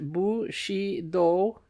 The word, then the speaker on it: Bushido: understanding feudalism and Bushido footnote pronounced bu she do in putting Japanese words